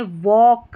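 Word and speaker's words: walk: वॉक यहां पर L silent है। एल के के उच्चारण में यहां पर इसको वॉक पढ़ेंगे। एल साइलेंट है।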